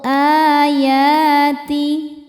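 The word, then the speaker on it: آيَاتِ: Seperti yang tadi ini mad badal karena ada hamzah dipanjangkan. Jadi kalau ada alif tapi ada barisnya, maka sebetulnya ini hamzah ya. Ini bacanya 2 harokat.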